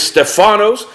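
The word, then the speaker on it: Στέφανος: Deacon the name Stephen in the Greek is Stefano's and his name means crowned the name Philip is Greek pronounced philipose and his name means lover of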